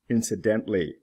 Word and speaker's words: incidentally: pronounced exceptional exceptionally the OL is pronounced incidental incidentally not pronounced traditional traditionally hole is pronounced for example